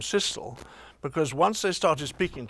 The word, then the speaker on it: Cecil: said, "My dear Cecil, there's one point in favour of pronouncing it that way, your way, namely that trestle has really no other rhyme. Whereas thistle has whistle, epistle and gristle."